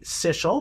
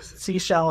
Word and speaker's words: Sichel: Sell s Well, technically it should be sil because it's German. Okay. But, you know, we we we're pretty My last name is also Germanically derived. And uh we we rhyme with whatever, right? We go with it. So, sea shell is fine. See, because she sells seashells. That's how I remember it.